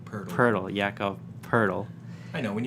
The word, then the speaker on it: Jakob Poeltl: Okay, Nailed it saying it's like turtle, but with a P. Poeltl, Jakob Poeltl. I know, when you read it, you want to say Poeltl. Poeltl, yeah. So, Rudy Gay, Poeltl, DeRozan, former players on the Raptors.